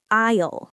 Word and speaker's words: aisle: Now, let's learn the word isle. Isle. A i s l e. It's spelled strangely, right? But it sounds like a isisle.